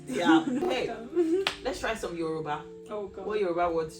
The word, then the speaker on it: Yoruba: It's not, Yoruba. you can't, you can't fluff it. It has to be Yoruba.